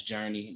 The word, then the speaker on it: Jernē: That's Journey, not the Journey.